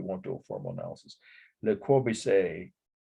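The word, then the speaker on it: Le Corbusier: do a formal analysis Le Corby say or kobusier is how somebody pronounce it Villa Savoy it's the second one down on the list for week 15.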